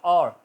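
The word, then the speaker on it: hour: इसी तरह और, घंटा, OUR, और की आवाज़ आ रही है, H नहीं बोला जाए, हॉवर नहीं कहेंगे, और।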